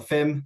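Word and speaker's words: PFIM: Um so from these these four traits, we built the paleo food web inference model or the fim silent p um for short.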